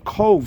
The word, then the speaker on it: Cobh: the name of this town was changed from cove c-o-v-e to uh queenstown in 1849 as i